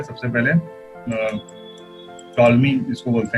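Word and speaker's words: Ptolemy: है जैसे साइकोलॉजी में पी से स्टार्ट होता है लेकिन साइकोलॉजी बोलते हैं, उसी तरह ये टॉलमी नाम से है, पी टॉलमी, ठीक है पी नहीं बोलते हैं टॉलमी बोलते हैं, साइंसदान का नाम है जिन्होंने जियोसेंट्रिक थ्योरी दी।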